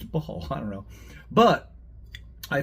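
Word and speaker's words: Baal: b a a l somebody told me that they think it's pronounced Bale um but I don't know it's b a a l and I'm American baby yeah so it's ball I don't know but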